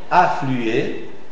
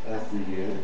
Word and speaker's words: afflué: l'articule pas comme semivoyelle on l'articule comme voyelle pleine on prononcera u u par exemple afflué afflué obstrué obstrué cruel cruel